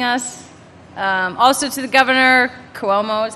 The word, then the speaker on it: Cuomo: Also to the governor, Cuomo is how I think you pronounce it, right?